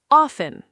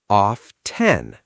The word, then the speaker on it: often: This one is actually interesting because both versions exist. Often, with a silent T, often, is considered more standard in American English, but often, with the T, is also widely accepted now.